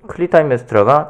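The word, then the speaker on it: 클리타임네스트라: 때 이 아가멤논의 부인이었던 클리타임 네스트라라고도 하고 클리타임 메스트라라고도 해요. 그 N 발음이 약간 유음화되는 게 있어서. 그래서 이 클리타임 메스트라가 자기의 정부였던 아이기스토스와 함께 짜고 아가멤논을 죽이죠.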